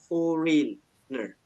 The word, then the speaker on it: foreigner: Tapi kalau foreignernya sendiri, kalau khusus yang memang luar negeri sendiri, teman-teman, itu kita sebutnya adalah foreigner. So, before I told you this one, how do you pronounce this one?